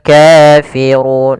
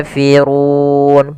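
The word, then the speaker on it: كافرون: Kemudian dalam kata kafirun, 'ru' di sini memiliki 'ro' yang tebal, yaitu ro tafkhim. Huruf R dibaca dengan tebal.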